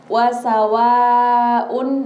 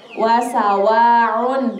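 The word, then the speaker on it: وَسَوَاءٌ: Kita perhatikan lagi, di situ hamzah bukan ain. Jadi bacanya hamzah an in un. Bukan an in un, tapi an in un. Wasawaun, bukan wasawaun, ya. Jadi wasawaun. Nah, setelah ketemulah ain. Nah, jadi itu harus jelas.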